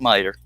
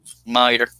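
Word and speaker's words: Meador: like it's mea d o r but it's pronounced merer anyway just made merer okay I'm cutting where the Brads are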